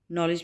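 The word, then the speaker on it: knowledge: नॉलेज, नॉलेज में क्या होगा, के साइलेंट है और डी साइलेंट है, ठीक है, नॉलेज, नॉलेज,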